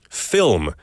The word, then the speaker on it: film: Because I remember you saying film is a difficult word to pronounce. 살짝 발음하기 힘든 단어라고 하셨죠? It is difficult, especially the L and the M kind of blending together.